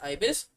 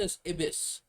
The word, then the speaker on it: Ibis: Pronounced Ibis. Have I been playing with Ibis Paint X? What is it? I've been pronouncing asbis.